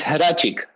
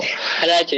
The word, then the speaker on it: Hrachik: some people were asking how my name is pronounced. It's Hrachik. So you did it well. Hrachik. That's easier. Yeah. Oh, perfect, man. Perfect. That's how native Armenians call my name.